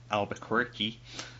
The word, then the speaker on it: Albuquerque: your appearance at the Albuquerque Comic Con. I can pronounce it better if I say the accent, okay? Just go with me. I love it. Is it you in there? Is it quirky? Albuquerque.